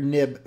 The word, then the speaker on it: nib: Um, it's always pronounced NIB, Nancy Indigo Bravo, as opposed to X-ray indigo Bravo because that's the way they've always been talked uh been referenced by before they went to XML.